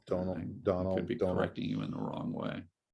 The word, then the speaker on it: Domhnall Gleeson: Domhnall Gleeson, I think is the way to say it. Donald.